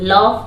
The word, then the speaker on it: laugh: हस रहे हो देखिए लफ को याद करना होगा लफ मतलब हसना होता है लेकिन इसकी स्पेलिंग होती है एल ए यू जी जी एच को फ पढा जाता है ला लियोन हा हाहा